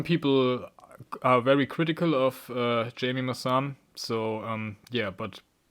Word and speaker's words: Jaime Maussan: Jaime Maussan, I think is the more correct pronunciation.